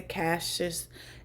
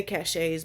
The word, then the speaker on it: cache: CCleaner is the app that is going through and clearing the caches and all of that stuff. I know some people say caches, but cache, I'd say cache.